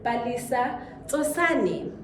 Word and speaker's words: Palesa Tsosane: Guys, please help me welcome Miss Palesa Tsosane.